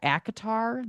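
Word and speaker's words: ACOTAR: now if you know you know acatar that's how you say it.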